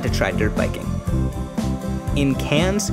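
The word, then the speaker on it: Cairns: try dirt biking in cans which is pronounced cans not KS I got to cuddle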